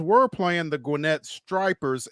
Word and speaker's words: Stripers: playing, the Gwynette Stripers, S T R I P er, and someone was pronouncing it. They had an alternate pronunciation for it. And I'm like, yeah. So, I'm like, no, that's that's not it. It's one P.